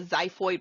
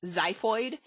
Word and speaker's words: xiphoid: the bottom is called the xiphoid process spelled with an x xiphoid um a little less